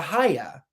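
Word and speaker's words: Haigha: he's happy he's a haya he pronounced it so that it would with oh ahaya he pronounced it so that it would rhyme with mayor mayor i love my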